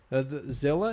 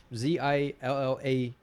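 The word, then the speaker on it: Zillah: daughters and everything yeah Zilla is actually in the Bible Zill spelled but it's spelled z i l l a h uhhuh Zilla I think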